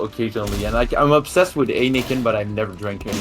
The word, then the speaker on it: Heineken: You mean Heineken, as I've always called it? Yeah, Heineken or Heineken, I don't know. Yeah, in French, I pronounce it Heineken.